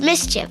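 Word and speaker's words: MSCHF: Art Collective known as Ms CF pronounced mischief is behind the big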